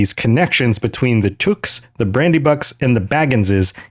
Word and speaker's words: Took: know my pronunciation of Took isn't super consistent. It's It's got that ooh in it, but I always want to say Took and I'm sure that slips in.